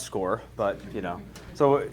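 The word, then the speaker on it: Scoir: about it so um when I first looked at this word I was like oh Squire um it's actually pronounced score but you know so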